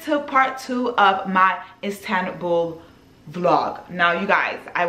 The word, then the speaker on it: Istanbul: even in this one i kept saying instable like it's like it's spelled i-n-s-t-a-b-u-l but it's let's let's let's hear it together istanbul istanbul in istanbul so now i need to just get it together istanbul not instable but anyways this video is